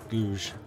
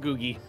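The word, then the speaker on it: Guge: Googie. Yeah, so they are. One province minor. I don't know how to pronounce Googie right, but that's how I say it. Googe. It's like Yuge.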